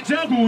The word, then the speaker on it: Django: Né Jonga, né Django, o D é mudo.